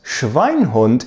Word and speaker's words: Schweinhund: According to Duden, the word is usually Schweinehund, but Schweinhund is listed as an acceptable variant. A very rare one, but acceptable nonetheless.